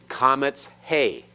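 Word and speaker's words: qamets he: And this one, comets hey. Comets hey. All right, the hey is silent here, but it's part of the vowel. It lengthens it further.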